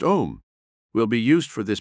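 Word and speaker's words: Aum: relaxed mentally and physically the sacred word am pronounced om will be used for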